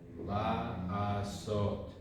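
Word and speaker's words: לעשות: This is specific to the infinitive only, and this is pronounced la asot. Okay, la asot.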